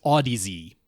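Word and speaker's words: Audeze: for an undisclosed amount I think they pronounced that brand name is Audi Z I don't care it's Oddities for me I know that's the way it's spelled but yeah I think it's Odyssey I don't know I've heard it both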